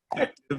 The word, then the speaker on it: Effectv: So actually, the way we pronounce our company's name is Effective.